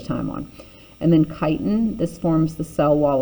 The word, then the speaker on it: chitin: step on it so notice i'm saying chitin okay it's kind of like kite with an n on it if you were going to go fly a kite right that's the pronunciation